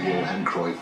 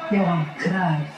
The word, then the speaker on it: Johan Cruyff: It truly was an honor to play here at the Johan Cruyff Arena. The honor is ours completely, but it is pronounced Johan Cruyff.